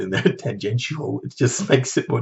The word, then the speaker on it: tangential: I had to go online and look up how to pronounce tangential and whether it was tangential, because for years I thought it was tangential, because that makes a bit more sense in a way. Like, where's the sh? Why do we need the sh sound in there?